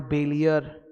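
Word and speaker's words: bailler: तो इट्स a French word बैलियर, उससे निकल के आया. उसका प्रोनाउंसिएशन बॉलियर नहीं होता, BALL, बॉलियर नहीं होता, बेलियर होता है, तो उसी से वर्ड मिला बेलमेंट.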